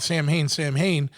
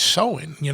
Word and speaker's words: Samhain: When we were kids, we always called Samhain, and then you always got these motherfuckers that want to be, well, the real pronunciation is Samhain, So what did you guys used to call it?